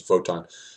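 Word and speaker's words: Wotan: by Woden in particular I prefer the vote on that the pronunciation is vote on has built this as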